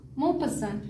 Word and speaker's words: Maupassant: pass the ant, okay, so Mau is a name, pass what, ant, so that will make it a Mau pass ant, okay.